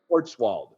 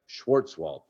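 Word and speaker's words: Schwarzwald: at Kyle Huff's Place sportswald yep schwartzwald that's right I can't pronounce it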